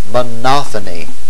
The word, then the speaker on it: monophony: the first syllable and monophony Accent on the second syllable basically the first is